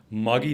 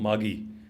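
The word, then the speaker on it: Maggie: थे उनके साथ गए मागी नाम था उनका नाम था मार्गरेट ओके मार्गरेट का शॉर्ट फॉर्म मागी मैगी नहीं था स्पेलिंग वही होती है हम आज बोलते हैं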